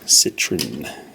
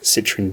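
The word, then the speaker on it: Citroën: make way for the ds citron as we call it in australia this is a 68 citroen ds or citroen if us to pronounce it properly um this is all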